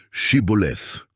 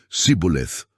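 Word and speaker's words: shibboleth: hiniling nila sa bawat lalaki na sabihin ang salitang shiboleth ang mga hindi makapagbigkas nito ng tama na nagsasabing siboleth ay pinatay mga hukom 1256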